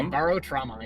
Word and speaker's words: Barotrauma: Primary Barotrauma, is that how it's pronounced? Yeah, Barotrauma, yeah.